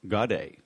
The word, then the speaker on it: Gaudet: To the uneducated, I have Charles Gaudet II on the phone, but my listeners are educated, so the proper pronunciation is Charles Gaudet.